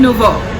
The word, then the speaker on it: nouveau: Salad nouveau.